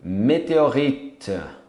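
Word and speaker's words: météorite: Meteorito, meteorite. É um T mudo.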